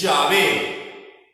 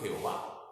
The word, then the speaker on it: Yahvé: Que quede claro que la pronunciación correcta es Yahvé. Sin embargo, durante siglos se dijo Jehová, pero no es la pronunciación correcta.